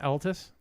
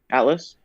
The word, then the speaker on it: Atlas: what is the is it Altus? Am I pronouncing it right? Atlas. Atlas.